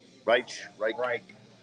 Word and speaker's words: Reich: Is that how you pronounce it? Yes. Reich.